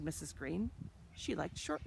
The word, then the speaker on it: Greene: Greene, that's Greene with a silent E at the end, discovered that they were expecting a baby girl.